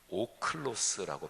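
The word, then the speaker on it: ὄχλος: 구별되고 그리고 종종 대조됩니다 헬라어로 하면 물이 이거는 5 클로스라고 발음해요 제자는 마테테스 이렇게 발음합니다 무리는 그저 호기심에서 구경하거나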